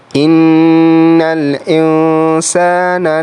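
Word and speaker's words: إِنَّ الْإِنسَانَ: Selanjutnya bertemu dengan nun sukun lalu berhadapan dengan sin, maka di situ adalah cara membacanya dengan dengung tetapi samar. Innal insana. insana. Jadi masuk ke huruf nun dan samar-samar mulai membaca huruf sa.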